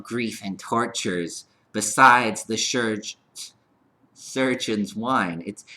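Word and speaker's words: chirurgeons: Besides the surgeon's wine. It's spelt CH from the French, so it's spelled chirurgiones. I'm going to just pronounce it surgeons though.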